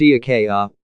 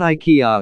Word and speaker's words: IKEA: in this regard don't pronounce IKEA incorrectly it's pronounced e aquella not IKEA as we say in the States it's nowhere